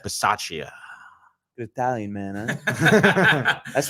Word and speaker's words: Bisaccia: Rich Bisaccia. Bisaccia.